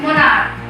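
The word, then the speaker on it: monarch: Next word है मोनार्क. CH. यहाँ पर भी एंड में CH आ रहा है लेकिन इसका प्रोनाउंसिएशन करने पर का साउंड निकल रहा है, इसलिए इसके एंड में भी सिंपल S यूज करके इसका प्लूरल बनाएंगे.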